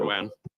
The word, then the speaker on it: Doan: My last name is Doan, so Vietnamese because of the French influence. We pronounce it Doan, but I'm used to being called Don as well, similar to the I believe a hockey player, but I don't watch